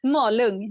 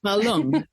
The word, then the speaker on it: Malung: Did I pronounce that correctly? Malung, yeah. Malung.